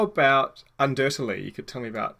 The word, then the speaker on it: Undertale: And for anyone who is somehow legitimately confused by my mispronunciation, it's Undertale. It is Undertale.